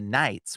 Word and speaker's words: knight: So Canaanite is actually from they became the Cunites, who became the knights, which is why the word knight in shining armor has a silent K in front of it.